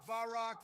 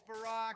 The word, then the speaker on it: Barack: How many times are you going to incorrectly pronounce his name, damn it? It's not a big deal. Balrock, Barak, Bayrock, it's Barack.